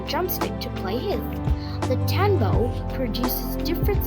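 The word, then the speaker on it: tanbou: One man asks him the tanbo, pronounced Town-Bo, is a type of barrel drum that has been a popular instrument in Haiti for centuries.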